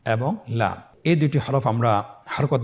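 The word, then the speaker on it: لَ: পরবর্তী হরফ লাম, উচ্চারণ সহকারে হরকত দিয়ে বলুন লাম জবর লা, লাম জের লি, লালি, লাম পেশ লু, লালি লু।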